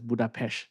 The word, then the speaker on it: Budapest: So that's why the the Hungarian name Budapest is pronounced as Budapest. There's actually no real H in it. It's just the Hungarian S sound which English speakers usually hear as sh.